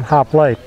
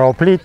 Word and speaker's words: hoplite: That's where we get our name from, hoplite, or hoplite in Greek. Hoplite, the H is silent.